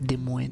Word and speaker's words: Des Moines: right dude des moines there's a french name for in washington d e space m-o-i-n-e-s des moines the way you say that moin the french one that's how you say my name none of the prints